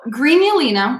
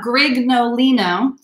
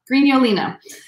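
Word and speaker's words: Grignolino: because i'm kira so greenulina is how this wine is pronounced the first g is hard the second g is totally silent so it's not greg nolino it is green yoleno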